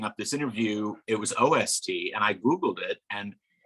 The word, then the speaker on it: OST: So are you team oost or team ost? Team ost is how we refer to it in DC. So that's interesting that we have a regional difference here. We do. And do people pronounce it ost, or do they just tend to say OST? I think we just say OST.